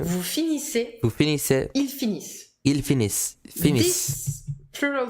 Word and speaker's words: finissent: And ils finissent. Ils finissent. You stop the pronunciation here at the double S, but you write the ENT, just like for the verb of the first group, that you never pronounce.